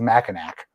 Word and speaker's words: Mackinac: to whatever you have to say it's a mackinack you're trying to screw with the the drunk